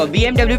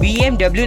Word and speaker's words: BMW: आप जानते हैं कि इसकी जो रियल प्रोनाउंसिएशन है वो BMW नहीं बल्कि BMW है। और ऐसा इसलिए क्योंकि ये जो कंपनी है वो एक जर्मनी की कंपनी है जहाँ पे इसका प्रोनाउंसिएशन BMW नहीं बल्कि BMW होता है।